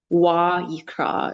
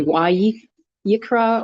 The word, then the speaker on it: Vayikra: There's a va followed by the yod, which kind of Vayikra is how it's pronounced. It could be Vayikra or Vayikra. But anyway, that's what it's pronounced like. Vayikra is Leviticus.